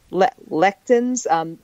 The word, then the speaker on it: lectins: God, I feel like an ass for not being able to pronounce that one, but it's pronounced lectins.